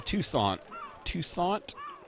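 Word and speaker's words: Toussaint: He came to Tucson, I guess that's how you pronounce it.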